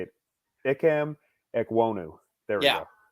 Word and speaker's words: Ekwonu: here and i can't say it it cam ekwonu there yeah it's like same thing right and